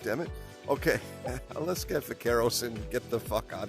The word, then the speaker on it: vaqueros: So I use the B sound for the B, which is proper, and she doesn't like it. She wants me to say it like V, like vagina, so I'll like say vaquero, whatever, right?